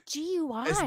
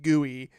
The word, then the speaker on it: GUI: Like, and I remember back then thinking, no one in the world says guey. And if you say guey, you're an insane dork. Say gui. G. Even though it's more syllables, GUI is so much more pleasing to say than gooey.